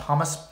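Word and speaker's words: khomus: I've noticed a lot of Comus players, and I'm probably mispronouncing it. I've been calling it Comus. I think it's pronounced hummus.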